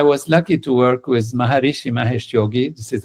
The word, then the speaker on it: Maharishi Mahesh Yogi: And I was lucky to work with Maharishi Mahesh Yogi. This is how we pronounce it.